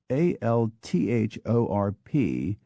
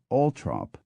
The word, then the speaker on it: Althorp: in fact I think I will VI count Al t h o RP pronounces his name ult trop while the rather more sensible people living in